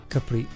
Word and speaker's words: Capri: years after, the Ford Capri will be the RS 3100. I named it Capri even if in Italian, if you are interested, is Capri the correct pronunciation.